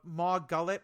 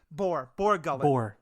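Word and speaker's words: Bor Gullet: The thing with the Maw Gullet, what is it called? I think I'm pronouncing it right.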